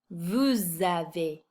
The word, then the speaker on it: vous avez: If you notice, I'm pronouncing the S at the end of these words because they're followed by a vowel. In French, we call that the liaison.